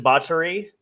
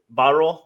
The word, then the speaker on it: Botterill: Jason Bottery, he was at Botterill. There we go. Okay, that's how that's pronounced.